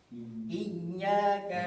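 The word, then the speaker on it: إِيَّاكَ: Yaitu dengan me mentasdidkan iyanya. Iyaka na silakan ikuti. Iyaka na'bud iyaka na Iyaka na wa iyak wa iya wa iya wa iya.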